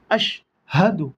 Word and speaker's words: أشهد: ওয়াও জবর ওয়া, হামজা শিন জবর আশ, ওয়া আশ। হা জবর হা, ওয়া আশ হা। দাল ফেশতু, ওয়া আশ হাদু।